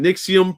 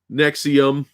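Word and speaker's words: NXIVM: stuff the cult operated using nixium pronounced nexium whatever as a front claiming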